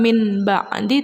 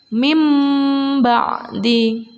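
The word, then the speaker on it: من بعد: yang kedua bibirnya dirapatkan mengganti suara nun sukun dengan suara meme-meme ba'dihim emban di Jadi bukan mint bak mandi tapi mimba'di Hai kemudian contoh yang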